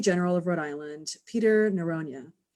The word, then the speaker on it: Noronha: Our guest today is Attorney General of Rhode Island, Peter Noronha, or Noronha, I think is the Portuguese pronunciation, if I did that correctly. Yes, you did.